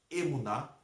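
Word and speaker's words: אמונה: Assim, os que se apegam à confiança e à fidelidade, confiança e fidelidade aqui é fé, que no hebraico fala se pronuncia emuná, que é fé, são abençoados com Abraão, que ele confiou e foi fiel.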